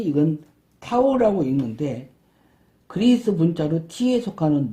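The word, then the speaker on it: τ: 작은 t, 큰 t, 이건 타오라고 읽는데 그리스 문자로 t에 속하는 문자예요.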